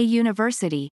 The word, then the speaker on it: university: Similarly, we say a university, not an university, because university is pronounced with a leading consonant sound.